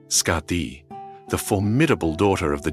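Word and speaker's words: Skaði: But one of the most famous and detailed stories concerning Nordra is his marriage to the Yotun Scardi, pronounced Scati, the formidable daughter of the giant Thiazi.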